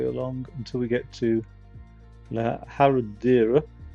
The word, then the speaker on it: Herradura: This large road all the way along until we get to La Herradura, or La Herradura, really it's pronounced.